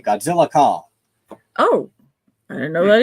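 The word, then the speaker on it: Godzilla x Kong: There's like an X in the middle between Godzilla and Kong. And my boyfriend told me you don't pronounce that. You just say Godzilla Kong.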